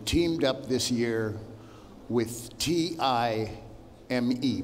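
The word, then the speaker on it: TI:ME: up this year with T-I-M-E, pronounced time, thank you.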